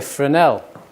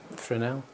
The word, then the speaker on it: Fresnel: And in comparison, we have a Fresnel, which is kind of like the Hollywood style kind of lighting you get from a Fresnel.